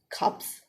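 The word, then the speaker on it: 값: one that is cups even though it is written i mean it is red as cup when it comes alone but then it is usually hard and red and spoken as cups cups means the price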